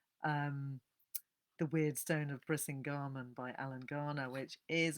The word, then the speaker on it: Brisingamen: I still remember as a 10-year-old reading the account in Alan Garner's novel, The Weird Stone of Brisingamen, sorry, I always pronounce that wrong, Brisingamen, of two children escaping